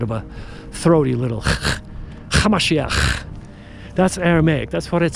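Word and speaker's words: המשיח: His real name was Yeshua, Hamashiach. That's how you pronounce it in Aramaic.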